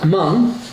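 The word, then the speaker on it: Hmong: the next one is mung that one I know how to pronounce even though it's spelled h m o n g because I've lived in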